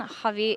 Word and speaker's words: Javi: That is the official pronunciation. Javi 8K and Styron, both very experienced, both very interesting play styles and IGL styles.